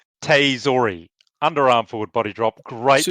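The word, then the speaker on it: tsutaezori: all the way, the Tustazori the underarm Takayasu. Yes, the underarm forward body drop. I wish he'd stop doing it because I can't pronounce that word. It's Tsu, which is TSU, Tsu, Teizori.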